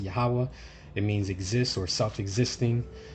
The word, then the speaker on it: Yahawah: translate that in hebrew some people pronounce it differently i pronounce it yahawah it means exists or